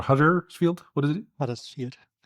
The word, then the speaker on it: Huddersfield: Huddersfield. The locals would pronounce it Hudasfield, but everybody says it a bit differently.